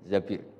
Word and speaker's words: Zabir: Di hadis ini bukan bacanya bukan Zubair tapi Zabir, Abdurrahman bin Zabir.